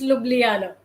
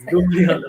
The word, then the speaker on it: Ljubljana: an Erasmus Mundus scholar from the University of Ljubljana, Slovenia. So did I pronounce that right? It's Ljubljana. Yes. Ljubljana, okay.